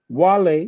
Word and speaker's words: Guale: It says Wale, but it's spelled Guale, tribe, meaning unknown.